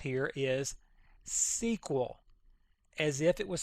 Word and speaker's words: SQL: way to pronounce this you will hear it pronounced all kinds of ways the correct way as you see right here is SQL as if it was spelled out s e